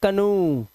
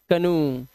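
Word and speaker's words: canoe: लेकिन कुछ वर्ड में ओ ई का उच्चारण उ हो जाता है।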